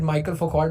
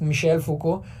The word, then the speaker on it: Michel Foucault: Simone day बोवेयर, मिशेल फूको, it's a French name, a lot of people pronounce it Michael Foucault, but it's Michel Foucault, Jacques Lacan, as well